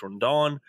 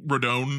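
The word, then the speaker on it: Rodón: again Carlos Ron Carlo yeah rone I think is how it's pronounced but I definitely heard an N like a Rondon or Rondon okay first time you said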